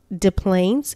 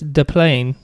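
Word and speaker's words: Des Plaines: de Mo yeah so maybe it's de plain I don't know that's my guess that would be my guess just based on De Mo the SS silent this is our silent get those s's out of here we don't want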